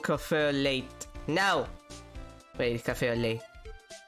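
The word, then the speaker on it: café au lait: Wait, cafe au lait. You're not supposed to pronounce the T.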